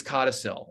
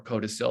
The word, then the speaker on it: codicil: But then as he got progressively sicker and more ill, got poorly, he added this codicil or codicil, depending on your pronunciation, which is what the crux of this book is, which is really his last bet.